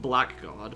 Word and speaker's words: blackguard: It's spelled blackguard, but it's pronounced blackguard.